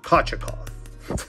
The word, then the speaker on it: Kochetkov: Pyotr Kochetkov.